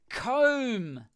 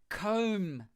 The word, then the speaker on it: comb: Comb. Oh, that's a good one. If I had more hair, I would use it. No, I do. Comb. The B is silent. Comb. Comb. You don't pronounce the B.